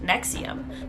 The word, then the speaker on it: NXIVM: front for disgusting crimes, NXIVM, which I believe is pronounced Nexium.